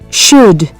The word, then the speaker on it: should: C 4.5 silent letters how is should pronounced which letter is silent listen and repeat unit 4 recording five should you should you should